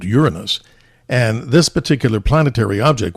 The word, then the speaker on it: Uranus: And again, to the audience, I pronounce it Uranus.